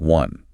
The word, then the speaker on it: one: While the word one visually starts with the vowel O, phonetically it is pronounced with a hard consonant sound, a W, sounding like one.